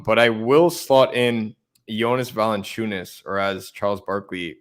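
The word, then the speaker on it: Valančiūnas: or less um but i will slot in jonas valenciunis or as charles barkley pronounces it yonah's volley tuna wine sauce yeah vaccinating wine sauce something like that yeah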